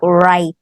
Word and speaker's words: write: You don't hear the W. Different. It's the W is silent. Yeah, you only say it like right.